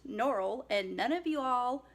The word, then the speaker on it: Norrell: I used to say Jonathan strange & Mr Norrell it's pronounced Norrell and none of you all corrected me I'm